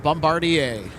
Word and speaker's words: Bombardier: would be runway 30 Bombardier. left, line up and wait. Oh, yeah. You got to remember it's French.